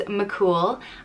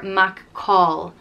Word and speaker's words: McCool: Next up is McCool, and it can be pronounced either McCool, McCool, or McCall, McCall. There are so many variants, different pronunciations out there, depending on where in Ireland you are, but those would be the main two. There's probably more. There's probably people that would pronounce it McKill or McQuill, and I'm gonna stick with McCool.